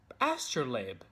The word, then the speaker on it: astrolabe: conducting that research, I also found out it's pronounced astrolabe.